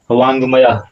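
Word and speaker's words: वाङ्मय: वांग्मय। इसको क्या उच्चारण इसका होगा? वांगमय।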